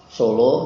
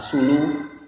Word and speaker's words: Solo: Nah, kemudian kalau nanti seperti Solo nanti menggunakan waw, tulisannya sulu, baksu, sutu, begitu. Tapi untuk pelafalannya nanti jangan sulu, disesuaikan nanti bentuk kalimatnya atau susunan kalimatnya. Ya, saya pergi ke Solo, tidak saya pergi ke Sulu.